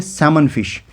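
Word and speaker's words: सैल्मन: जिसे हम बोलते हैं सेमन फिश। नाम उसमें एल भी होता है लेकिन एल साइलेंट होता है।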